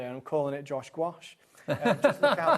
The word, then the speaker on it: gouache: I I'm big fan of gouache. Yeah. Not just because it rhymes with my name, although if I do ever bring out my own, I'm calling it Josh gouache.